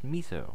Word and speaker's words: Meso: My middle name is pronounced Miso, with a long E.